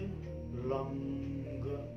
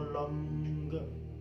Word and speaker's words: लं: ग जोड़ना है, जैसे लम ग पे समाप्ति करना है। दोनों विधि अपने अपनी जगह सही है। आप लम भी बोल सकते हैं और लंग भी उच्चारण कर सकते हैं।